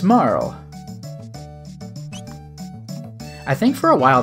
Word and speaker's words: Marle: looked up somewhere that the Japanese characters say, like, Maru, so it implies Marl rather than, like, Marley or something like that.